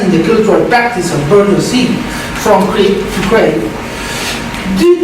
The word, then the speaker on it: bourgeoisie: Yeah, Victorians were part of a transnational culture called, and I'm going to pronounce it à la française, the bourgeoisie.